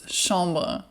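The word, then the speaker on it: chambre: to say chamber and it's not the chamber in French it's shamba so I just want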